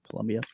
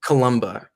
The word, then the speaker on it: Columba: Irish monk St Columbia Columbia no it is Columba uh that is spelled correctly yeah all right it's